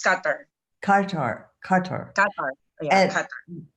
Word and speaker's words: Qatar: Is that how you pronounce it? Yes, Qatar. It's Qatar.